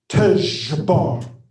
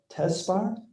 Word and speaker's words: Tejbar: And using my mouth and my vocal cords, he said this, Tejbar. Just like that. And I said, Tesbar? And he said, no, Tejbar. And I said, spell it. And he said, Tezjar, Tejbar. And I repeated it, and I was able to pronounce it properly after a few tries.